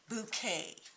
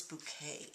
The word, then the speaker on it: Bokeh: And today I'm going to show you one of two, I believe it's pronounced bouquet styles.